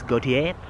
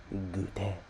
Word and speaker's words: goûter: Around 30% of their population eats this gautier. I don't know how to pronounce it, but goûter. It's pronounced goûter.